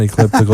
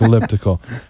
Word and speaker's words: elliptical: It's not ecliptical, it's elliptical.